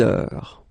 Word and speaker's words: heure: Il est 6 heures. All right, so you write it like that. Remember, H is not pronounced, okay? So it goes like heure.